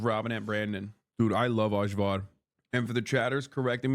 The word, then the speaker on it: ajvar: That's how you say it in Turkish. Ajvar. Ayvar, for fuck's sake. No, it's not. What do you mean? Ajvar değil mi oğlum? Ne? Ayvar mı? My whole life I've said Ajvar. A-J-V-A-R.